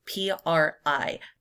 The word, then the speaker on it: PRI: known as the PRI, P-R-I. PRI. You say it like it's a word, not an acronym in Mexican politics.